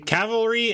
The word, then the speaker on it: cavalry: cavalry has definitely arrived you will catch me pronouncing cavalry and jewelry with the word the letters that are in the words um i casually play